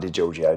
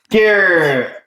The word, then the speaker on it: Degiorgio: So it doesn't even sound like Degiorgio, does it? Well, it's Giorgio, like Giorgio Armani, with DE at the beginning.